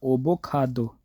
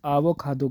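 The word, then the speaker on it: 아보카도: अभी अगर इसी तरह ही प्रोनाउंसिएशन करें तो ये बोला जाएगा ओबोकाडो, ओबो खादो, इस तरह नहीं, ये आबो खादो कहते हैं, आबो खादो, आबो खादो, ठीक है।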